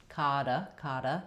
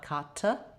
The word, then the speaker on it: dichotomy: So we have stress on the ka syllable. Letter O says the ah vowel, ka. And we have secondary stress on the first syllable di. Letter I here says the I diphthong. So a little bit of secondary stress, di, ka, and then we're going to flap that T, kada, not kata, but nice light flap.